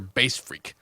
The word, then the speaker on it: BASSfreq: Anyway, this one was requested by Reddit user BASSfreq, spelled like frequency, like freak, F-R-E-Q.